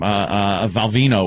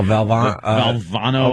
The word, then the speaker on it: Valvano: Valvino was still coaching. Oh, Valvano or Val. You just the dead guy. Yeah. The dead guy. Valvano, right? Yeah, you mispronounced his name to a point.